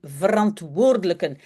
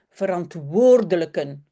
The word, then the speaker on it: verantwoordelijken: Tous les collègues, alle collega's zijn heel leuk en ik heb een goed contact met mijn verantwoordelijken. Ça, c'est aussi un mot qu'il faut vraiment bien prononcer. Verantwoordelijken.